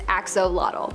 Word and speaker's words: axolotl: There is much speculation as to how to pronounce the name of this creature, but for the most part, most people believe that it is axolotl.